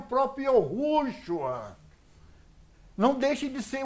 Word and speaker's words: Yahushua: A gente sabe que o nome dele mesmo chama Yahushua, ou outras pronúncias que vocês vão dar para Yud, Re, Vav, Shin, Ain. Entendeu ou não? Na realidade, é Yahushua.